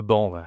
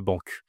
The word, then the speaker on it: banc: Et aussi avec là, j'ai le banc, ça marche pas, hein, c'est pas le banqu, mais globalement, la plupart des mots, tu vas pouvoir les prononcer correctement grâce à Lucifer.